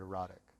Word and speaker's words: EROTIKK: name beautiful so the the brand name is erotic which is spelled e-r-o-t-i-k-k right that's a norwegian word for